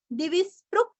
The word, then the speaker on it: दिविस्पृक्: अभी इसको हम जोड़ेंगे दिविस्पृक् सर्वदृग व्यासो। स्पृक् बोल के सर्वदृग बोलना है।